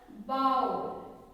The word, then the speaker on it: bowl: The W is silent. When we pronounce the bowl, okay, the only we can hear the O sound, not the L sound.